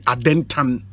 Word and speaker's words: Adentan: they call the constituency Adentan? Or not the Abia about Adenta Sa. I hear the right pronunciation Adentan.